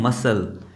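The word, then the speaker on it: muscle: तो मसल में देखिए इस सी को प्रोनाउंस नहीं किया जा रहा है। इस एस को प्रोनाउंस किया जा रहा है। क्योंकि ये एस के बाद सी आया हुआ है। इसलिए ये क्या हो गया? साइलेंट हो गया है।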